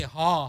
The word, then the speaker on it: haw: say haw haw like hee haw.